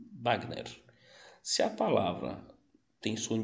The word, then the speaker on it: Wagner: Por exemplo, se a palavra é estrangeira e tem som de B, então vai continuar no espanhol. Por exemplo, Wagner, sim? Wagner.